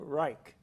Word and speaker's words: Reich: room I'm most interested bill him rei CH Reich like the Third Reich spelled like that not rei k re there's a Theodore